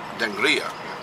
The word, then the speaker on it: Dangriga: Dangriga.